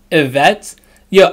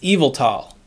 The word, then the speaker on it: Yveltal: i say evil tall they're telling me it's pronounced event till yvette yo i know a vet's your x-man but that